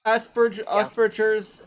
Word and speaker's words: Asperger's: To say I'm high functioning, and second off, I don't say Asperger. So It's Asperger's, technically, because it's a German name.